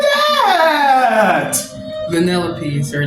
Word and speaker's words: Vanellope: Vanellope is her name. Okay, thank you. Because I could never say her name. It looks weird. Vanellope.